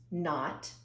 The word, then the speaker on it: knot: I'm going to show you one type of spelling, not, K-N-O-T. The K is silent.